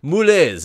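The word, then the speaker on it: moules: And mussels, moulets, M-O-U-L-E-S, moulets. I didn't know how to pronounce that, Julia.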